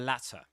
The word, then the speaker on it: latter: And this is awah. That's awah, right? the the latter. The latter. And this sound here is the same as in cats. Cats. The latter. The latter. And at the end, you've got uh another schwah that's in British English. Uh or more specifically in standard southern British English.